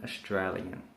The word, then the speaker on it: Australian: Okay, so to break this down, we say stir a yin, Australian. If you can master pronouncing those separate parts of the word or the syllables, you will be able to speak like an Australian.